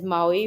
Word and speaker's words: MAUI: this particular module is so it is called Maui it is pronounced as Maui which is multi-platform app UI so what multi-platform